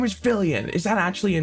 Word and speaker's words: Fillian: time oh oh no her name's fillian it's not Lilian oh it's not Vivian it's not livan it's fillian oh my my god